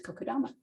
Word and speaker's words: kokedama: too um so that in a nutshell is kokodama am i saying it right yes yes so